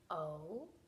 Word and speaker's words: oh: four sounds are ah oh we've also had a special leap word do you remember this leap word is o because the H is silent so we just say O and that has to